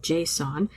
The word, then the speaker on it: JSON: It's supposed to be pronounced like the name "Jason," but I've never heard anybody say it that way.